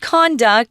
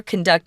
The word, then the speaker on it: conduct: conduct of the locals this word conduct is a noun it's not conduct which we usually use as a verb right conduct experiments conduct the choir conduct an orchestra this is conduct and it's actually it's